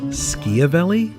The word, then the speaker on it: Schiavelli: life first of all skia vely I guess that's how its properly pronounced in Italian then I've just been